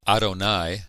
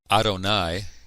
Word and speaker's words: Adonai: the mastic text does this word came to be pronounced by the Jews as Adonai which is the Hebrew word for Lord rather than pronounce it directly they would say Adonai and that's what I'll